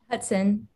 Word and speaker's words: Hutson: Hutson.